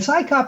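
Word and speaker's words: CSICOP: And Psychop, you actually have a name you can say. It's Psychop. We know what that means, but CSI, you cannot pronounce it as an acronym. So you have to say CSI.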